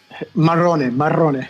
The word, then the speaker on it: Marrone: I'd like to welcome Nicola Marrone. That's how you say your last name? Marrone. Okay, I said it right.